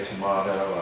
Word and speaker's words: tomato: I think the higher class so they say tomahto I said well aside from just the phonetics of pronunciation what else does that mean the one I said well I grew up tomato and no I'm too mom I grew up